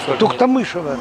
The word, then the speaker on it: Туктамышева: Кстати, скажите четко и для всей массовой аудитории, как все-таки правильно, Туктамышева или Туктамышева? Туктамышева.